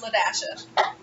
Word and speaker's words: LaDasha: LOL, FYI, BRB, or LaDasha. L-A, pronounced LaDasha.